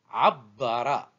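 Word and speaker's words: عبّر: Verbe suivant, abbara. Abbara. Remarquez bien que je double la lettre du milieu par la présence de shed et je prononce abbara. Je prononce 2 fois b.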